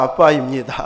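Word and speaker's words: אבא: 이 아람어로 아빠에 해당되는 아버지, 그냥 아람어, 저도 이제 코로나 기간 동안에 이제 배웠는데 아람어를 배우다 보니까 발음 자체가 아빠입니다.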